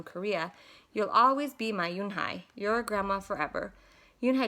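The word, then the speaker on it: Unhei: Yes, it's pronounced Eun Hye.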